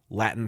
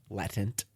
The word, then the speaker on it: latent: completely been cloned from Latin cells. Boom, there's an animal. Insane to me. It was nuts. Latin cells? Latent. Latent. Oh, latent. It's latent.